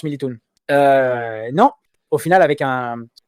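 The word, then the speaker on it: Militão: Édité, et c'est vrai que ça se prononce Militoun. Non, demande à Napola, ça se prononce Militoun. Non, au final, avec un Militown.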